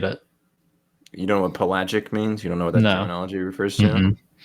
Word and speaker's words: pelagic: You seem to know a lot about water these days, soaking and always pelagic.